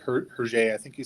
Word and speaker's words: Hergé: Those are more cartoony, but I just loved the style, like Hergé, I think you say his name.